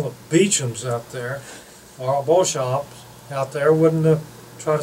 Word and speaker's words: Beauchamp: area in 1873, and the English people pronounce it Beecham, but in French it's Beauchamp.